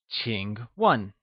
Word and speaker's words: 请: 请 is pronounced with a falling, rising tone, and starts with a ch sound, whereas 问 is pronounced in the falling tone.